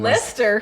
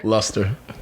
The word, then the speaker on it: Luster: My mom said I'm not named Lester. Luster.